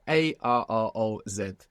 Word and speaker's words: arroz: So in Spanish, we have A-R-R-O-Z. It's just a simulation of al-ruz, arroz, to Spanish arroz.